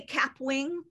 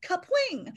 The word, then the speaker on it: Kapwing: legit look is called kapwing uh or you could say cap wing but i think they pronounce it kapwing i say cap wing because i'm just uh i'm canadian okay okay yeah so